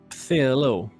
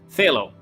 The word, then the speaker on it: Phthalo: Pthalo. Pthalo Blue, King Lewis. That's right. Love how weirdly that word is spelled. I know. Pthalo. Phthalo. I believe it's a silent P.